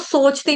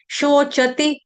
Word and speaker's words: शोचति: शोचती, ठीक है, इसको सोचती नहीं पढ़ेंगे, सोचती। स सोच वाला नहीं आएगा, श कौन सा है, शरबत वाला शबरी वाला श है, तो उसका ख्याल रखेंगे। शोचती, च हरस्व होता है और ती की मात्रा क्या है, हरस्व, छोटी की मात्रा।